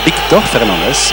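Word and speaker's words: Víctor Fernández: Victor Fernandez, bien sûr, pour le prononcer correctement en espagnol.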